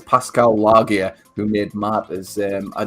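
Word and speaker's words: Pascal Laugier: man he is um I always struggle the pronounce his um it's Pascal lagia who made matters um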